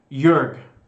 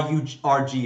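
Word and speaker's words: Jorg: me rephrase i apologize it's jurg why huge rg is how it's pronounced even though his name is pronounced uh spelled j-o-r-g but so you can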